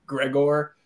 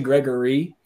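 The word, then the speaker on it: Gregore: I think I pronounced his name Gregor. It's actually Gregory, although it is spelled Gregor, at least in my uneducated eyes.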